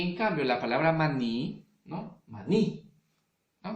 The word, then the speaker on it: maní: Y en cambio, la palabra maní, ¿no? Maní, ¿no? No va a ser mani, ¿cierto? La palabra maní. La palabra maní termina, pues, ¿no? Tiene la mayor fuerza de voz en la última sílaba, ¿verdad?